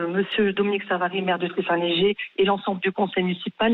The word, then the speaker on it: Trith-Saint-Léger: Alors donnez-nous la bonne prononciation de votre commune, qu'on évite les impairs, Donc, madame. Tri-Saint-Léger. Tri-Saint-Léger. D'accord. Tri-Saint-Léger, oui, c'est ça, Alors, exactement.